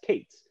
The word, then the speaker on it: K8s: set and that is the eight represents the eight characters between the the k and the s so that you can shorthand it as kate's and that's exactly how